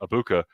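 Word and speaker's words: Egbuka: Abuka.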